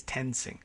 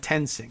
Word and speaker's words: Toensing: Is that how she says her name? Tensing or Tonesing? It's spelled like toe, T-O-E. Toe and Toensing, but I think it's Tensing.